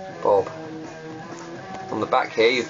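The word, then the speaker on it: Bhob: The actual book's actually by Russ Jones and Bob Stewart, and Bob is spelt with an H, B-H-O-B. Bob.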